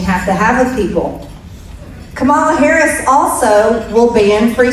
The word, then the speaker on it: Kamala: Kamala is the pronunciation, thank you.